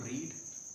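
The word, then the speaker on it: read: रीड माने पढ़ना होता है, तो आप बेसिकली जब फर्स्ट फॉर्म बोलेंगे तो रीड, second form रेड and third form भी रेड बोली जाएगी।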